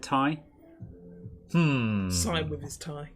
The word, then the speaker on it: Ti: non-philistine i've always said ti good for you chris yeah for those of you who don't know nvidia have said it's pronounced tai but this is kind